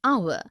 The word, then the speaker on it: hour: an inkpad, also an heir, an honest, an hour.